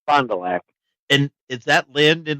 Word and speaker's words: Fond du Lac: Pretty much the Fond du Lac. Just the way you said it, Fond du Lac.